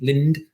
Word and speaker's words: Lind: I think you pronounced the D. I'm going to pronounce the D. Lind.